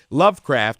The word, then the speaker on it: LVCRFT: because they're that awesome Lovecraft which is spelled lvcrft they are a group